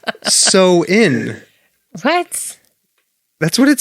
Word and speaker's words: Samhain: yeah no it is it says samhain here on this paper i'm reading from but it says it's pronounced so in what that's what it